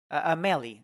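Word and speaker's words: Amélie: since they couldn't kill her husband they kidnapped a Melly that's how you say it Tamil it's so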